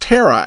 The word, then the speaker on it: Terre: word terror terror is pronounced terror as in terra firma the second word Haute